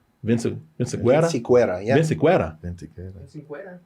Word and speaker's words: Vinciquerra: Vinciquerra, yeah. Vinciquerra. How are we all getting this right before you? he's the pure, authentic Mexican in the room. I don't think you can see it. Yeah. Tony Vinciquerra recently told the Los Angeles Times that Kraven